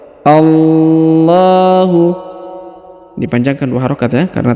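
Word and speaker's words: الله: a-nya langsung masukkan ke lafaz Allah Ya Allahu dipanjangkan dua harakat ya karena terdapat Alif kecil di sini Allahu la kemudian huruf la dipanjangkan lima harakat karena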